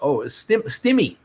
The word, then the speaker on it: Stymie: Stymie is pronounced as Stimmy.